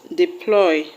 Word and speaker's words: deploy: The word deploy will have its stress on ploy.